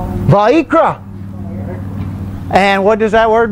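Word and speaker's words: ויקרא: Vayikra. Vayikra. You remember, because how it's spelled, the I's are E's. Vayikra.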